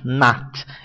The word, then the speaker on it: not: acrescento a palavra not a pronúncia correta é com som de a not eu não gosto muito dessa pronúncia apesar de ser a correta eu prefiro falar com o som do o fechado do do o aberto perdão not mesmo we are